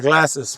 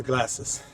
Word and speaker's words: Glacis: The castle is up to your right, and to your left at the top is the glasses, which is where we're going now. It's spelled Glacis. And here you are. This is the glasses.